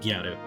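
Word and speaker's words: ギャル: word is gal but the way that they pronounce it in with Japanese Annunciation is gyaru yeah there's there's a new anime series that's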